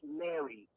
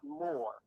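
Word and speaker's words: mr: M-r is pronounced Mary, not more.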